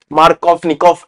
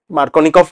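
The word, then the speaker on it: Markovnikov: reaction এটাকে আমরা বলবো মার্ক অফ নিকফ addition মার্কনিক অফ addition যা উচ্চারণ করবি সেটা আর উল্টো দিকে আমার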